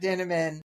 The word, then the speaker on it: Dinniman: of Dungeon Crawler Carl rhymes with cinnamon which is how I remember it Matt denan Matt uh it was